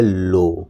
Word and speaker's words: low: नहीं, ये लिखा हुआ है लो। क्या लिखा हुआ है? लो। लो मतलब क्या होता है? यहाँ L से ल हो गया, O से O की मात्रा हो गया, W साइलेंट हो गया।